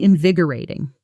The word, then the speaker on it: invigorating: say it was really invigorating. Here's the natural stress pattern. Because this word has a specific rhythm, invigi or a ting. The stress lands hard on that second syllable.